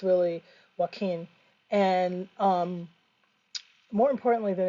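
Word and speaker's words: Joaquín: and by the way this is Spanish pronunciation q-u but we you know a lot of Americans will call it uh joachen but it's really Joaquin and um more importantly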